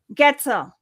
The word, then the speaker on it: Goetzel: Goetzel is the way to pronounce it. Goetzel.